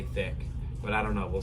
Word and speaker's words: Thique: So it is thick. That is the correct pronunciation.